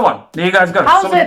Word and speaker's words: howzit: Or how's it, my bro? Or, you know, something like that. How's it's another one. There you guys go. How's it?